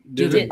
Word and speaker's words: didn't: Didn't. Oh, you say dint, D-I-N-T? No, I say didn't. I pronounce the T, didn't.